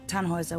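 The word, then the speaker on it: Tannhäuser: why what's your name tanhauser we'd pronounce it tanhoisa with an umlaut German roots yes my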